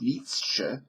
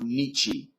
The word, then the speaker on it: Nietzsche: The article said something like, faced with Nietzsche, and that's the correct pronunciation, folks. It's not Nietzsche.